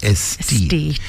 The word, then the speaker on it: Aesthete: M and if you don't know how to spell it as Tita said it is a weird a e s t h e t e like aesthetic. This is estee the ones who see the beauty in the world.